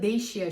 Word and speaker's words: Dacia: enişte lerin vazgeçilmezi Dacia Fakat bu markanın doğru okunuşu değil siyah ya da değiş ya şeklinde olmalı Çünkü aslında bu otomobil markası Romanya merkezi ve bir diğer yine